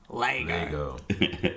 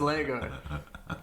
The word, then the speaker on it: Lego: Africa South Australia where Brody's from everyone says Lango and apparently it's because when it first went